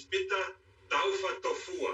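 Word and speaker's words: Pita Taufatofua: The proper pronunciation is Pita Taufa Tofua.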